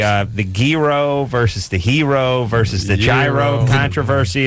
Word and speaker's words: gyro: and then you know people you know swear it's a gyro I'm pretty sure it's a hero okay yeah sort of like a hero but with not pronouncing the H that's not even there I'm not jumping into